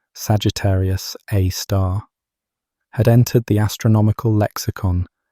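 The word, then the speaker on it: Sagittarius A*: The name Sagittarius A star, pronounced Sagittarius Aar, had entered the astronomical lexicon decades before the stellar orbits conclusively pointed to a black hole.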